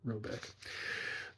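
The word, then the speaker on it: Råbäck: question is to be called robek note here pronounced something like robek though that is not his name it is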